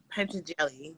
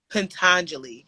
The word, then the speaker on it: Patanjali: whole lot sutras of penta jelly did i say his name is it's patanjali but i think we all say it wrong when we first hear it patanjali right i don't